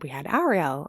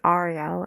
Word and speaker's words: Arielle: to her face where she'll say my name is Arielle and they'll say, don't you mean Ariel?